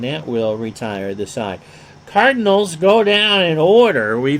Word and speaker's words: Cardinals: One of the 3 hits for the Cardinals. And if you were to pronounce it properly, the I is a separate syllable. Cardinals.